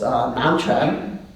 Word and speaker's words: Nansen: That's Nansen in Japanese pronunciation.